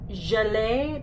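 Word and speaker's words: gelée: the glitter gel a pretty sure it's pronounced gel a because there's an accent aigu over one of the ease and gel a well this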